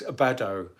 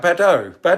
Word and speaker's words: Badeau: Congratulations, Badeau. I hope I'm pronouncing your name properly. It's Badaux. Did I? Fantastic, excellent. So I did get it right, Badeau, excellent.